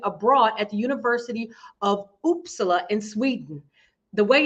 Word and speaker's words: Uppsala: opportunity to study abroad at the University of uppsala in Sweden the way it's spelled and the way it's pronounced I had to I had to look that up but it's oopsala and she may correct me when I get